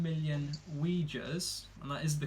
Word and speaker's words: Uyghurs: They've been accused of locking up 1 million Uyghurs, and that is the correct pronunciation because I looked it up.